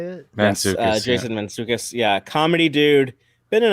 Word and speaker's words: Mantzoukas: Mantzoukas, yes, Jason Mantzoukas.